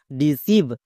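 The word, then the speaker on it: deceive: ই ডি সি ই আই ভি ই সিভ ডি সিভ এখানেও কিন্তু ই আই আছে তাই এর জন্য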